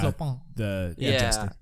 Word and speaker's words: Clopin: And I remember that the guy who played, is it Clopin is his name? Am I pronouncing that right? Yeah. Clopin.